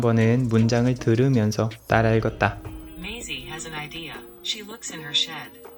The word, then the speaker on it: Maisie: Maisie is driving her bus today. Bus stop number 5. It's time to get off, everyone. 발음 공부를 시작하고 처음으로 메이시가 아니라 메이지라는 것을 깨달았다.